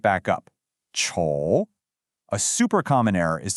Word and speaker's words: 丑: The pinyin is 丑, and it uses the third tone.